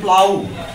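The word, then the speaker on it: plough: কারো কাছে ডিফিকাল্ট মনে হয় এইটার উচ্চারণ হবে প্লাউ উচ্চারণটা হবে আমি লিখে দিচ্ছি এখানে লাউ।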